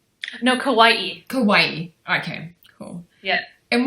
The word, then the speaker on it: Kauai: Is it pronounced Kauai? No, Kauai.